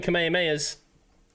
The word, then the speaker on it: Kamehameha: Or kamehameha, as it's properly pronounced.